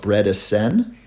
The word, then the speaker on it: Bredesen: just so you know it's spelled bread Ascend if you look for it b-r-e-d-e-s-e-n so it's all ease in his name great job uh